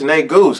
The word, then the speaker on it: Negus: It's Negus, because if I pronounce it right, it's going to sound like that other word that y'all don't want to say.